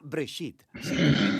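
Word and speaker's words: בראשית: génesis génesis viene de una palabra hebrea se pronuncia break it significa principio hay muchas historias en el libro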